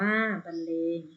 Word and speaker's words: บรรเลง: คะ ต่อ ไป ค่ะ บรรเลง อ่าน ว่า เลง เช่น การ บรรเลง ดนตรี